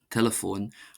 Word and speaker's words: teileafóin: Uh and this word telephone would uh sort of breaks the pronunciation rules uh for olster in that instead of being pronounced de telephone, it's de telephone.